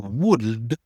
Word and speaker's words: would: Première chose les trois mots should would et could tu prononces pas le c'est pas ou would ou could tu prononces pas le l.